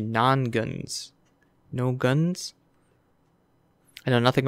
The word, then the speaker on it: Nongunz: non guns non goons I mispronounced it the first time I thought I was no guns it's actually non guns no guns I know